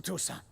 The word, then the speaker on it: Toussaint: Then post-haste to Toussaint.